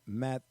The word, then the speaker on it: Mathieu: found, man, about Tyrann Mathieu. I don't know if I'm pronouncing this right. Gully, how would you pronounce the Honey Badger's last name? Mathieu? Matthew. Oh, it's Matthew. Matthew.